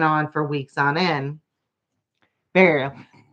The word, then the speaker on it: Beryl: Burial. Barrel? Barry? How do you say that? Beryl. Barrel. My pronunciation is awful.